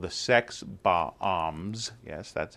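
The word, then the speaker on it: Sex Bob-omb: He's sort of a slacker living in Toronto, plays in a rock band called the Sex Bombs.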